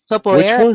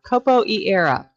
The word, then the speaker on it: Capoeira: Capoeira is actually, it's called Capoeira. Oh, I think I'm Capoeira. pronouncing it right. Capoeira. Yeah, whatever.